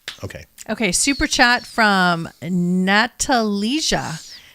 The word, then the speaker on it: Natalija: No, but she has a J in there. It's just pronounced like a Y. Oh. It's like Eastern European. Oh, okay. So Natalia, thank you for everything what you are doing for the world.